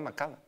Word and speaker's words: Macallan: ¿Cómo se pronuncia Macallan? No, Macallan. O sea, normal. No hay que esforzarse. Macallan. Pero no hay que entrar como en un tono así como, oiga, para sonar más interesante, weón.